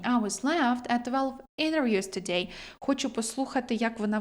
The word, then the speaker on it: interviews: Дуже часто в американській вимові ось цей а префікс, оця приставка inter вимовляється як inner. Internat internet. International international interview. Тобто в залежності від вимови, точніше від варіанту англійської може змінюватись вимова.